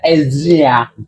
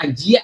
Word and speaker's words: Ezia: Asia Ezia. Iya, Asia Ezia. Jadi Ezia. Z-I-A. Ezia. Ezia. Jadi bacanya bukan Ajia ya.